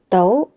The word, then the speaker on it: 到: In casual spoken form, we usually pronounce "dou2" 到 is used to indicate abilities and possibilities Its usage is...